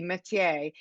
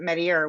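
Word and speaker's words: Mettier: This Point Metier, and it's pronounced like the French way would be métier, but of course the residents pronounce it Metier, which is, again, sort of adds to this sort of the ambiance of this group.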